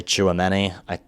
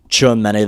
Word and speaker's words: Tchouaméni: Alonso is a big admirer of, I say, Tchouaméni. That's how I pronounce it.